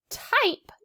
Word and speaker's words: type: do a couple more in the word type do we hear short i i or long i i good we hear a long i sound i i now do you want to know a secret if you were spelling the word type it's actually spelled with a y t y p e not t i p e but you know what